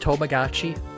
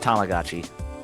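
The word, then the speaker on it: Tamagotchi: app toachi it is it not pronounced tomagotchi no it's pronounced tamagachi cuz Tama is Japanese for egg or ball and that's what the thing is it's Tama tamagachi Tama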